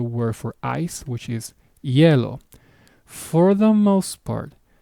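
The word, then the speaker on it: hielo: for ice which is yellow. For the most part, the H is silent, meaning you will not it will not be pronounced.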